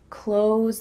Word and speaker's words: clothes: When native speakers are speaking a little bit slower, they might add a TH sound, clothes, clothes. You see how my tongue comes out a little bit for that TH? Clothes. But really, when we're speaking quickly, it just sounds like close, close.